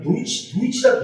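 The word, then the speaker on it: Deutsch: 근데 실제 독일 사람들은 뭐냐면 도이치라고 해요.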